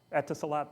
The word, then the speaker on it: Etisalat: I don't know how to pronounce it. Etisalat, thank you.